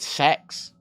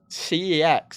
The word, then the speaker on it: CeX: Why would I pronounce it sex? CEX. It's got a C in it. It's not a word, it's an acronym.